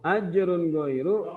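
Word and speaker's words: أجر غير: Dibacanya tidak boleh dengung, dibacanya harus jelas. Ajrun ghairu. Ya. Ajrun ghairu. Tidak boleh bacanya Ajrun ghairu. Tidak boleh kalau baca ajrun ghairu. Wah, kalau itu didengungkan sama-sama tidak boleh. Karena ini huruf izhar halqi, maka dia harus baca jelas.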